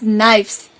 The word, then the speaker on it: knives: And it is not knives, it is knives. Here the letter K is silent, right?